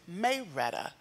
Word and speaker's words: Marietta: No, it's short for Marietta. Like the town of Georgia? Yes, Marietta? And one of my best friends from college is from Georgia. And they pronounce it Mayretta.